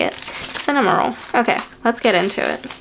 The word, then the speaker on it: Cinnamoroll: Cinnamoroll.